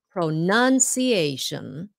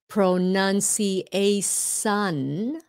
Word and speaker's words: pronunciation: word pronunciation right pro-nunciation pronunciation i know some people pronounce it incorrectly and they say pronunci a sun but it's pronunciation sh sound yeah um mexicans people